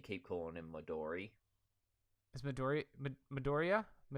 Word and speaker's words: Midoriya: Is Midoriya? How do you say it? Yeah, Midoriya.